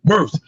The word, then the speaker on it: Wirfs: Well, I can't pronounce his name. Wirfs.